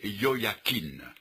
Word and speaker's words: Jojakin: l'emmena captive à Babylone je sais que le nom de ce jeune roi jojacquin devrait se prononcer Yoya Keane mais n’étant pas ébranisant